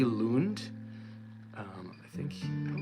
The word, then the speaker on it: Lund: this guitar player L Lund um I think I don't know where he's from he might be from Denmark um l a g l u n d I think he say his name Lun um he's just like